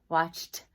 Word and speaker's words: watched: circle the word watch member IDI sometimes says watched watched okay and the number